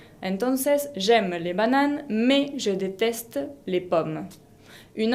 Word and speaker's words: mais: Ese me que está en el medio de la oración sirve para hacer una oposición, significa pero, y la S final no se pronuncia. Entonces, j'aime les bananes, mais je déteste les pommes.